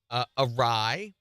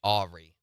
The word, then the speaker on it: awry: Awry. Someone on here said, until very recently, I pronounced it Ari.